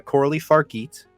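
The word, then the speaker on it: Coralie Fargeat: it's a French translation here but it's uh corly farit is how you pronounce it and uh my God she's a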